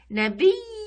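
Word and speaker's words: نبيٌّ: والاوثان في الارض تعبد لاحظوا هنا نبي عندي شده على الياء هذه ياء مش الف مقصوره لانها تحتها نقطتين وفوق الشده تنوين كيف ننطقها نبي نبي نبي نبي كويس بعدين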